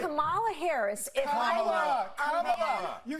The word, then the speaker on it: Kamala: Kamala Harris, if Kamala, Kamala, you said this. We're not calling you Nancy. It's Kamala.